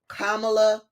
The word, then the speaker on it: Kamala: his looked him in the face and said kamla Harris that that set the tone right there